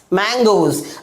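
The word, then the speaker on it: mangoes: एस जोड़ देने से उसकी साउंड यानी उसकी प्रोनाउंसिएशन क्या हो जाती है, एग्स हो जाती है, P-A-G-E-S, पेजेस। अगला एग्जाम्पल M-A-N-G-O-E-S, मैंगोज।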